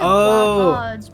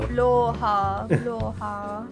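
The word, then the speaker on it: Blåhaj: "It's so annoying because people call it blahaj, but it's actually like." I know what you mean now. Bloha, or something like you actually pronounce it bloha, something like that.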